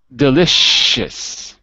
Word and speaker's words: delicious: Delicious. It sounds delicious. There's no s, it's a sh. Delicious.